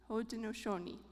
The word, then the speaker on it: Haudenosaunee: I looked up how to pronounce this word. So it's Haudenosaunee. Haudenosaunee.